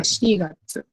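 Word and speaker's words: 四月: So for the first 6 months, it's the one that you have to remember is the shigatsu. Shigatsu, they have a special reading.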